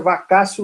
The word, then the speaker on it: vacatio: Escreve vacatio, mas no latim, o TIO tem som de, ao invés de tio, tem som de cio. O ti aqui tem som de si. Então, por isso, a pronúncia vacatio legis.